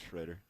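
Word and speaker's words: Schrader: Yeah, Shredder is how you say it.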